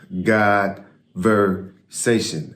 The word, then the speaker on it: God.versation: God versation for one it is pronounced God versation as in conversation but God versation so